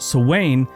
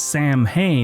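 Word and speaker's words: Samhain: Celtic Harvest festivals particularly the Gaelic Festival of sowain now Gaelic words are really hard to pronounce some people call it Gaelic some people call it Gaelic but Swain is actually spelled Sam Hayne so in case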